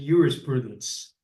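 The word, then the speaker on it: juris prudentia: um that is about jurist Prudence or as the Romans would have said Uris Prudence they pronounced the J as a why um for example um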